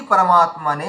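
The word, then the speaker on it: পরমাত্মনে: তো ওই জন্য এখানে দেখুন আছে ওম শ্রী পরমাত্মানে নমহ। তো এখানে দেখুন শ্রীটা দীর্ঘ আছে ম আকার দীর্ঘ আছে আর নকার দীর্ঘ আছে তাহলে শ্রী পরমাত মানে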